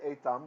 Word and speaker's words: Etham: Etham, th. Again, it's okay to say Etham. The way I've taught you the Sephardic pronunciation, because that's what Kalal Yisrael uses today.